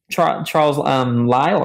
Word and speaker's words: Lyell: So he was influenced by, I think, Charles Lyell, right? Is that how you pronounce it? Yep, okay, Lyell.